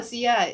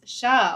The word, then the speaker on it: Sha: Oh, Sia, it's Sha.